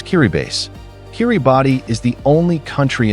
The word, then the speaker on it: Kiribati: And no, it's not pronounced Kiribati. It's Kiribass.